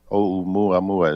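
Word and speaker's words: ʻOumuamua: And it's called, they named it Oumuamua. Oumuamua is how it's pronounced.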